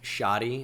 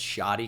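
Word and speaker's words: Shaady: Ooh, Shady is pronounced Shoddy. It's a nickname for a Shod. So it's Shoddy Clayton Johnson. That makes sense with the double A.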